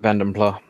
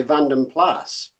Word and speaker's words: Vanden Plas: still gonna call it Bend imply yes I mean I've heard Americans say vanden plas but yeah I do that if you can actually pronounce it quite close to the Dutch but then again New